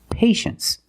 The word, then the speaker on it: patience: Well, you see t iie e in the second syllable. You know the t is pronounced shh. So this word is patience.